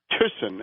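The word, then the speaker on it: Thyssen: of the American interests of a guy called tisson and this is spelled t h y ssen tsen but tson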